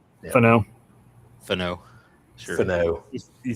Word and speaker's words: Fano: Fano. Yeah. Fano.